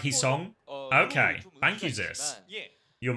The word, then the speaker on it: Heesung: Heesung is pronounced like Heesong.